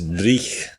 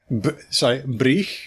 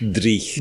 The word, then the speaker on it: dreich: Which is dreich. Breich? Dreich. Dreich. D-R-E-I-C-H. Dreich. That's how I spell it anyway.